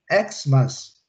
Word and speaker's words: Xmas: Xmas. Xmas. Ok? Ok, Luciana? Quando eu uso como abreviatura, ele é o som do X mesmo, do X mesmo, ok? Xmas, que é o Natal, né?